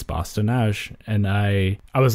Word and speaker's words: Bosse-de-Nage: like that, because it's, I think in English you are inclined to pronounce the E's at the end of words, but it's a French word, so you generally don't.